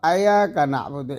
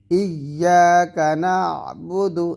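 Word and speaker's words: إِيَّاكَ نَعْبُدُ: এমনইভাবে তাসদিদ যুক্ত হরফকে তাসদিদ বাদ দিয়ে পড়া, যেমন এখানে আছে ইয়াকা না'বুদু, খুবই কমন একটা আয়াত। তো এখানে আমরা ইয়া না বলে ইয়াকা না'বুদু বা আয়াকা না'বুদু এরকম পড়ি।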